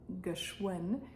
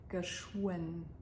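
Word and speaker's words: geschwënn: Notice that the W in geschwind is not pronounced as a V sound the way it is often pronounced in Luxembourgish, but here in the middle and after the sh, it turns into more of a w sound, geschwind.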